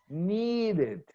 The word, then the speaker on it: needed: So in this case, I add the ed and I say I needed. Oh, needed. The ed is pronounced just like a separate syllable.